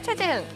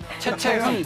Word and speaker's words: 최채흥: 안 터져서 아쉬운 선수 김기훈 대 최재흥. 최채흥. 최재흥. 해체는 아, 저 발음이 안 돼요.